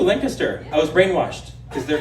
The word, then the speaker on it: Lancaster: We say it correctly too, Lancaster.